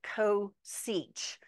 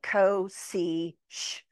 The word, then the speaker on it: cosech: When we're looking at hyperbolic cosecant, we pronounce it cosech, like cosech.